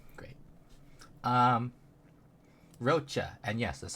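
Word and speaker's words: Roccia: Um, Roachcha, and yes, that's how you say her name. People say Rosia. No, her name is Rocha.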